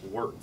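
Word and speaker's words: wort: a new liquid called wart w r t pronounced wart eert so this is basically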